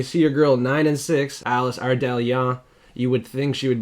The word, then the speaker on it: Ardelean: And Elise Ardelean is the pick.